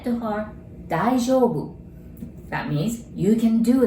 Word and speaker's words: 大丈夫: And you notice there's O-U together, so you pronounce it like O, right?